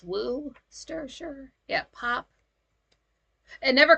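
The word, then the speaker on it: Worcestershire: oh W wooer sure I thought it was war it's woo stir sure yeah pop and never call it soda pop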